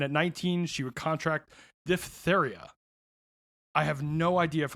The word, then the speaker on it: diphtheria: The PHTH is weird because it's two soft sounds right one after the other, and it's hard to pronounce. Yeah, diphtheria. Diphtheria. It don't even act like the P's there.